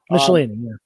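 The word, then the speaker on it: Michelinie: Is that how you pronounce his name? Michelini? Michelini, yeah.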